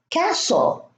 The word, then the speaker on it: castle: There is no T, we don't pronounce it. Castle, fasten, listen, glisten, soften, moisten, hasten, wrestle, and whistle.